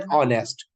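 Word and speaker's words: honest: यूज होगा इसके साथ एन ऑनेस्ट ठीक है क्योंकि एच क्या हमारा एक तो साइलेंट हो जाता है बेशक क्या है वो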